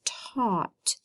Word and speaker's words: taught: one we wrote yesterday this one has lots of silent letters has an A in a you could say ah and it has a G and an H T this word is taught taught next one we have